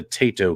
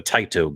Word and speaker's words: Taito: everybody saying hey here's your codes for the tato games right or the taito games geez if you say it wrong there's